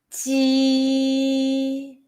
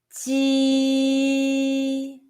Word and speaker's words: 鸡: Make sure that you are smiling when you say the Ji sound.